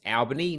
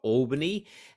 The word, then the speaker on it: Albany: My actual hometown is Albany, which is about 400 k's south of Perth, pronounced Albany, not Albany.